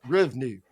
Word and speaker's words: RVNU: And now she is a bona fide entrepreneur, having co founded a company, RVNU, which I pronounce RVNU, which is perfect because her husband graduated from Texas Tech University.